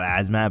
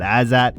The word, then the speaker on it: Azat: I do think this is like a tailor made matchup for uh Azat I think is how you say it. Not Azmat but Azat.